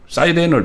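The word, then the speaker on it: Siren: 저게 뭐냐면 저게 이제 사이렌이라고 이 세이런 원래 우리가 이제 뭐 사이렌을 발동한다 그럴 때 그 사이렌입니다. 근데 그거는 이제 영어식 발음이고 원래 세이런이라고 해서 그리스 신화에 나오는 그 캐릭터죠.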